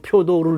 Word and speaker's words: 표도르: 있는 그 언론인이자 학자 그 표도르 우리말 발음으로는 표도르 류카노프가 일관되게 주장하는 것